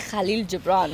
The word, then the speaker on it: Khalil Gibran: Khalil Gibran. Khalil Gibran. Oh, sorry, I didn't. Khalil Gibran. She had to say Khalil Gibran.